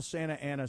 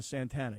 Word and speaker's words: Santa Ana: It's kind of like when you call Santa Ana Santana. You know what I'm saying?